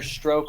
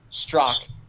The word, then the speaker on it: Strzok: Quickly, Red Feather 1 asks, did you guys see that Peter Stroke, or I don't know how to pronounce that fucker's name. I think it's pronounced Strock.